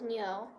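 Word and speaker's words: 牛: to the chinese zodiac the chinese character for ox is nyo it has a similar pronunciation as the word new so i named my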